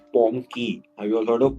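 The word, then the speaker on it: PONKE: little bit of P pony have you all heard of pony p o n k e but like bunk with a silent e or something no B for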